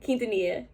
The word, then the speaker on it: Quintanilla: why i need to do better but it's quintanilla i think it's quintanilla quintanilla correct me if i'm wrong you guys got big am i wrong is it quintanilla okay i said it right quintanilla all right candle stabilized so i'm good but